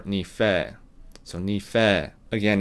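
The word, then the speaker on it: にふぇー: way of saying thanks it's nifed i don't think that's incorrect i think that's also acceptable um some parts of okinawa depending on the region uh probably pronounce it that way but i personally prefer ni-fei so ni-fei again it's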